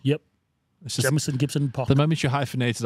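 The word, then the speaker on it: Jamison Gibson-Park: I think if you look at the Irish team that's coming out for this tour, Jamison Gibson Park, is that how I say his name? Yep. Jamison Gibson Park.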